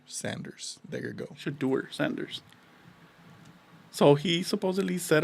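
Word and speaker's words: Shedeur: I'm pronouncing it wrong because of you. Oh, it's S H O D E A R. Shaduer Sanders. There you go. Shader Sanders.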